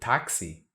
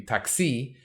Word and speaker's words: táxi: word taxi because um this an X having the sound of x like in English is very unusual you've got it in the word taxi because it's a loan word from English and yet because if a word ends in the letter i in Portuguese it's usually stressed so it'll be taxi we can't have